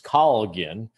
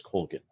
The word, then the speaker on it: Colgin: Now, the Irish pronunciation is Colgin, but we've always pronounced it as Colgin.